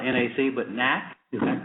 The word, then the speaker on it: NAC: you the next is I think it's pronounced Matt it's not NAC but knack is that correct knack International na anything okay